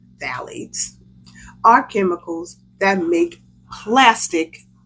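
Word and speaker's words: phthalates: what's that word again the pH is silent phalates phalates right valades pronounced valades are chemicals that make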